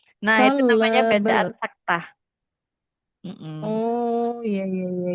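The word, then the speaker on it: سكتة: Terus ada bacaan saktah. Kak Dia pernah dengar Apa? saktah? Mm-mm. Sakinah. Apa? Saktah, bukan sakinah.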